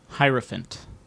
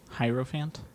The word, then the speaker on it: hierophant: do you spell it h-i-i-r-o and then like elephant like p-h-a-n-t a person especially a